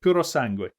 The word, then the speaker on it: Puro Sangue: Oh, yeah, that funny woman who pronounces everything weird. Puro Sangue.